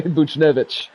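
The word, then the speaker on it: Buchnevich: gets whatever to Netflix figured out that guy's name last night a bit mispronounced it all day buchenevich that's the guy's name Connor McDavid he'll gain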